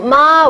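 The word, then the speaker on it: 妈: different meaning for example ma with the tone number one means mom whereas ma with the third tone means horse isn't that funny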